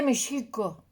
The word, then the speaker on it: México: se estuvo escribiendo y no se pronunciaba MEX, no, se pronuncia SH. Y no es esdrújula, sino grave, porque el náhuatl es grave. Entonces se dice mexico.